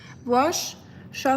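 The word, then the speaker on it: Worcestershire: It's pronounced wash sha sauce.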